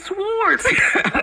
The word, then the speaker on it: sword: Really, and they're like fighting each other with swords. And I was like, yo. Bitch. The word is sword. The W is silent.